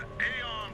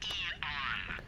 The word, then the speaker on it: Eon: the world today the Aon program is that e on I'm sorry I'm it's pronounced e on e e you or